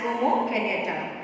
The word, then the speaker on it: Jomo Kenyatta: Though the spelling is Jomu, but we pronounce it as Jomo Kenyatta.